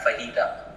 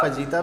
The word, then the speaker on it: fajita: लफ्ज़ है, ये मैक्सिकन लफ्ज है, तो वो जे को एच की तरह प्रोनाउंस करते हैं, गॉट इट। तो वो फहीटा कहते हैं। अच्छा, बाय द वे फजीता भी ये समझ गया, इंडियन एक्सेंट।